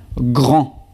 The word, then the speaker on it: grand: Próxima palabra, grand. Grand. Y forma femenina, grande. Grande. Al igual que frío, aquí pronunciamos la D final cuando es femenino y no pronunciamos la D final cuando es masculino.